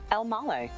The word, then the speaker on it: Elmaleh: today we have how do you pronounce your last name L male exactly how it's spelled right last week I